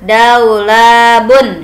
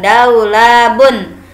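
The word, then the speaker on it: دولاب: Ulem Hai nah ditulisnya Daulay labun ya dibacanya daulat Kenapa Zah beda iya kalau ditulisnya tampilnya dihidupkan daulabun tapi ketika dibaca ketika menyebutkannya kita sukun kan saja Daulay lab ya jadi orang Arab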